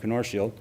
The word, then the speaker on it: Knorsfield: That's how you pronounce his name, Knorsfield.